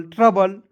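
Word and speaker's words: trouble: TERRI, ट्र, BLE को बल पढ़ते हैं, ठीक है, BLE अंतिम में आता है उसको पढ़ते हैं बल पढ़ेंगे, और TERRI को पढ़ेंगे ट्र, ट्र पढ़ेंगे, बल, ट्रबल, ट्रबल, ट्रबल, इस तरीके से, ठीक है।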